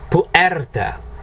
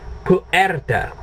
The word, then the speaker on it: puerta: My suggestion, separate the poo, okay, and the erta, puerta. Now if you say it puerta, you have a half a chance of getting it right. If you say puerta, you're really gonna, yeah. So my suggestion, puerta, and it'll at least sound halfway decent.